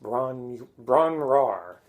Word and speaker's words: Bron-Yr-Aur: Page solo acoustic piece I believe it's pronounced Bron Bron rar named after a cottage in Wales which means golden Hill or hill of gold in Welsh he wrote it and